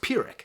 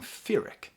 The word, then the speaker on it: pyrrhic: you know but like it's pronounced pirick so why is he saying fearic and so I I